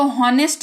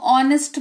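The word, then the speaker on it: honest: आपको पता है, आप इसको हॉनेस्ट नहीं, अब आप इसको ऑनेस्ट पढ़ोगे।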